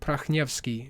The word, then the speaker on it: Prakhnevsky: But usually in Ukraine, that's where I'm from, Kiev, Ukraine, we pronounced it Prakhnevsky. So KH is not there. It's just H.